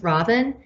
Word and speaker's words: Robin: i'll say you know my name is robin um just like the bird because i'm really into